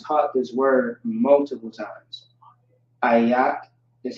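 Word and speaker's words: איך: Ayak is how you pronounce that.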